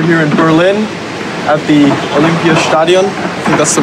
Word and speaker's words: Olympiastadion: Collins tour were here in Berlin at the Olympia Stadium and that's the right pronunciation doing the kid run-through for the kit